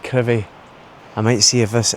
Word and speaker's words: Crovie: Again, it will be Crovie on the map, but it's pronounced Crovie.